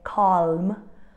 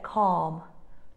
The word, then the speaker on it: calm: got a silent l very often we have a silent L when it appears after a long vowel sound okay for example we won't say calm or talk we would say calm talk like the long sound kind of absorbs the L let's